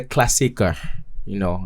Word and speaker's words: Klassiker: Yeah, that was for the Klassiker.